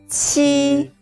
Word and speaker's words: qi: Pay attention, the shape of your mouth is like a smile. Ji, qi, xi.